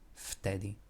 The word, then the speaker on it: vtedy: V and t are two consonants next to each other, differing voice. The second one is unvoiced, so it will change the pronunciation of the first to be unvoiced as well.